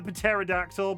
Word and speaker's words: pterodactyl: Peterry the Peterry the pterodactyl. But the joke is that you don't pronounce the P.